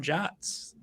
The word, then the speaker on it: JWT: then what PHP developers need to know about Jats JWTs. I still don't know why we pronounce it that way, but that's fine.